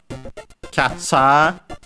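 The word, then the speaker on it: キャッチャー: And then we have Katza which uh it's actually from uh despite being written in hiragana. It's from catcha with a long a at the end and it's the word catcher from English.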